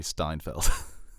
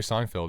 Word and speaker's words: Seinfeld: James Gordon and Jerry Steinfeld I never said that well you just pronounce them James Gordon and Steinfeld I say Steinfeld you say Jerry Seinfeld was driving his course